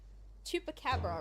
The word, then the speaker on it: Chupacabra: Chupacabra.